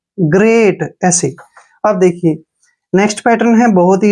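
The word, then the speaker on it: great: तैयार नेक्स्ट देखिए जी जी का उच्चारण ग करते हैं ठीक है ना क्योंकि जब भी जी के बाद कोई भी कंसोनेंट आता है जी को ग पढ़ते हैं आर का उच्चारण र करेंगे ई ए का उच्चारण देखिए यहां पर क्या हो रहा है ए मैंने आपको बताया है ए होगा और टी को ट ग्रेट ग्रेट ग्रेट क्या होता है महान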